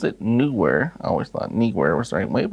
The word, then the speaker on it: Neewer: newer I got confirmation that is how you pronounce it newer I always thought newer was the right way